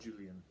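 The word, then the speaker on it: Juilin: you pronounce this stupid it's not julian because there's no a after the eye in the second eye so julian j u i l i n how is that julian julian i know why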